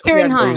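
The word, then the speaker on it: Ciarán Hinds: I always butcher the pronunciation of this, but is it Kieran? Is it pronounced like a K, a Hines? Kieran Hines. Kieran Hines.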